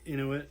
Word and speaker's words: Inuit: Inuit? Inuit, yeah.